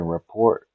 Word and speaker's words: rapport: pronouncing this right but is it Rapport building report exactly being building a good